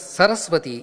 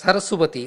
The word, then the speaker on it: Saraswati: the peal tree hence sarasua shall not be pronounced as sarasvati any longer and has to be pronounced as Saraswati only mangi or tal or